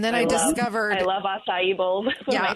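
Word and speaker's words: açaí: I love acai bowls. Yeah, acai, that's how you say it.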